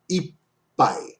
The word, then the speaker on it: いっぱい: So when any two of the consonants P, T, K, or S follow each other directly, there should be a breath taken before pronouncing the second consonant. Before pronouncing pa in ippai, keep your lips closed for an instant in the middle of pronouncing the P.